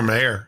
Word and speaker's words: Mayer: M A Y, but boy, isn't it pronounced to like Meyer? I remember those, you know, those. No, it's Oscar Mayer if you ask him.